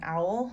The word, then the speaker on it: awl: going to need is an owl so this is spelt a-w-l i got this one